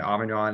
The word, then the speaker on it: Amon: I took I can really say his first name, but Amon is how you say his first name.